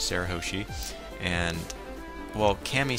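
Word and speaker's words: Shirahoshi: actually asked that cu he still does not pronounce her name right it's Sarah hosi and well Cammy says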